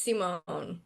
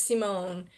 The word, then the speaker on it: Simone: So, sometimes people forget the e on my name, and that's Simon. That's like a boy's name, but my name is Simone. It's got a French or origin.